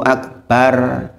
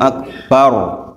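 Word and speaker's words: أكبر: memang 90% masih tradisional ro diucapkan bar itu ro tafkhim rok tebal bukan rok tipis karena rok didahului harokat fathah itu dibaca tebal Maka jangan katakan Allahu akbar bar itu keliru Allahu akbar roknya tebal ini juga berlaku di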